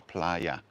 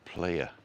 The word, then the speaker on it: playa: playa fagna b and don't forget the a is pronounced ah so it's playa not player player b that's me